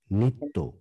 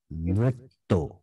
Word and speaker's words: নৃত্য: নৃত্য না, নৃত্য, নৃত্য, নৃত্য, এন আই যদি হয়, নৃত্য, আপনি যেটা উচ্চারণ করছেন এন আই টি টি ও, নৃত্য, আমি বলছি এন আর আই টি টি ও, নৃত্য।